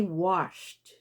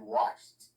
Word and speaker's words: watched: ago okay very good that's the pronunciation it should be t but can i hear the top the s h you say washed i watched okay my car three